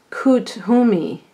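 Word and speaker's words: Kuthumi: kethu me it says it's pronounced coot who me who to me is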